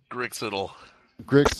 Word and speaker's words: Grix: are you kabuji or Griggs I think I'm grix it all thank you like it sounds for sure spelled like